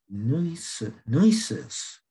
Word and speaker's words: Nueces: And then they went up along the river, I think it's pronounced Nueces, N-U-E-C-E-S River.